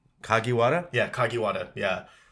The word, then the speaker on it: Kagiwada: kagiwada yeah kagiwada yeah so if you speak Spanish read the syllables as if you were reading a Spanish word that's how Japanese work that's how Japanese last names kind of work out that's cool man hey